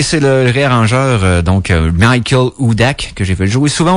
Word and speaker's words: Hudak: H-U-D-A-K. Donc, je devrais dire Michael Hudak. Ça serait la bonne façon de prononcer. Je fais pas trop tout le temps mes H aspirés en anglais.